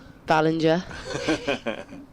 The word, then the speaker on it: Ballinger: Ballinger. Like the ball bit at the front, though.